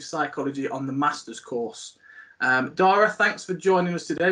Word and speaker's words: Dara: That's how you pronounce it, Dara, yeah?